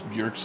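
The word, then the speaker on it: Björk: cutis of and pork it's actually funnier to pronounce bjerk's name correctly it because it sounds like the swedish chef it does spirit beer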